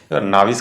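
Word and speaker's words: novice: ठीक है, नोविस है। क्या है? नोविस है, NOVIC। नाविस करके कुछ बोलते हैं इसको, इसका प्रोनाउंसिएशन, लेकिन नोविस बोलिए, अच्छा लग रहा है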